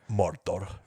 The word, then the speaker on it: Mordor: Or I will like, say the funnest thing to say is the proper way to say Mordor. Mordor. Yeah, the rolled.